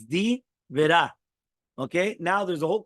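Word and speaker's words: די ברא: The words Divera should be pronounced as 2 words and not Dibera. It's not 1 word. It's Divera.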